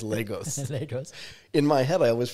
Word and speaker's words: Lagos: But the guy that I know that lives in Lagos says Lagos. Lagos. In my head, I always pronounce it Lagos.